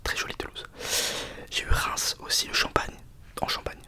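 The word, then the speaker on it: Reims: J'ai eu Reince aussi le Champagne en Champagne Reince dans la région du Champagne. Je vous dis ce que je sais de vos villes. Reins reince reins qui s'écrit Rems. C'est insupportable.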